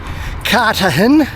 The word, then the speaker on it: Cartagena: Well, that was an enjoyable little stay there in Cartagena. You notice I've dropped the G and replaced it with a H because that's how they like to have it pronounced.